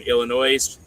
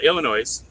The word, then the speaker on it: Illinois: It's in Illinois. Okay. There's no there's an S on the end of Illinois, but it's silent.